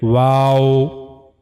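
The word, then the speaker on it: و: completely means you have to circling your two lips but the lips shouldn't meet to each other like wow. You have to circling the two lips without meeting completely. The lips should not meet to each other but you have to make them circling. Wow.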